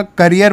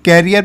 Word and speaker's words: career: इसे कैरियर pronounce नहीं करते हैं, ये करियर होता है।